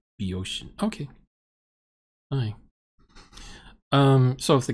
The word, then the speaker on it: Boeotian: Oh, the first O is silent. Okay. I was saying Boeotian. It's Beoshian.